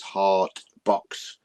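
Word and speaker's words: Hartbox: It's called a hard box, but they say it with a T, so it's hard box.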